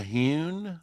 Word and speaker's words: Hyun: Did you say the hewn, like as hew a rock?